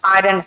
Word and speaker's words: iron: आयरन fist, आयरन hand, यही तो है। Strike while the iron is hot। आयरन नहीं कहते यार, आयरन कहते हैं, आर का प्रोनाउंसिएशन नहीं होता।